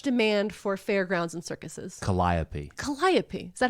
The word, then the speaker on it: calliope: know you're supposed to say this word uh calipi uh it's a variation of a steam organ which was uh in much demand for Fairgrounds and circuses Calliope Calliope is that how you say it wonderful